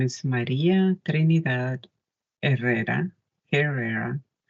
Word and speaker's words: Herrera: is Maria trinad errera Herrera is how it's pronounced in English and um before my